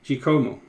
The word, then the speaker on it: Giacomo: The A is silent. Ah, okay. I see. Giacomo.